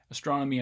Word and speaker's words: astronomy: And hopefully you can hear that there is stress on the second syllable of each one of these: Atlantic, atrocious, America, arcade, astronomy, and arthritic.